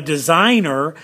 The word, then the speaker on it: design: look at designate design there's that gu design silent g design nate underline the g so i've got design